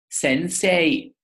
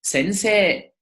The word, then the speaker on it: sensei: Whenever you have a kana that ends in the sound e, like se, me, ne, he, and so on and so forth, and it's followed by e, you prolong the e sound. So you do not pronounce sensei. You just say sensei.